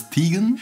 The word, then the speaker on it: Teigen: Her surname is pronounced Teigen normally, but she prefers Teigen.